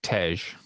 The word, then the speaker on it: Tej: It's Tej.